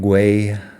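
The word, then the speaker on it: Güell: apologize it's my fault par is spelled g u with two points over it e it might be more like guay than G either way parg is one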